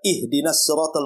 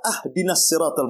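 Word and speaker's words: اهدنا الصراط: Contoh umpamanya kita baca ihdinasiratal mustaqim kan begitu. Kita baca ahdinasiratal mustaqim. Harusnya di kasrah kita fathah pula tuh. Harusnya ihdinasiratal kita katakan ahdiniratal itu kan beda artinya.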